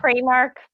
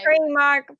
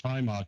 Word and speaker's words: Primark: I gone with Primark because that's how I would pronounce the word if you just showed it to me. Primark. P R I sounds primary school.